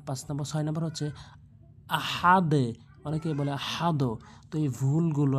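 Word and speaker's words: أحد: বলে তালতি পেশ দুন আহাদুন অকফ করলে আহাদ অনেকে বলে হাদ আহাদ ভুল উচ্চারণ আহাদে বলতে হবে তো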